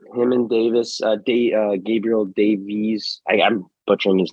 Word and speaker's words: Davis: I'm like, Gabriel Davies. I'm like, wait a second. It's Davis.